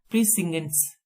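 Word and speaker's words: precincts: उसके बाद है हमारा प्रीसिंगेंट्स। इसकी प्रोनाउंसिएशन है प्रीसिंगेट्स, जहां कार इत्यादि ले जाना वर्जित है, अहता।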